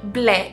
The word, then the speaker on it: μπλε: the word blue, and in Greek we say ble. It's quite easy, it's very close to the English. Say it with me. Ble, just one syllable, ble.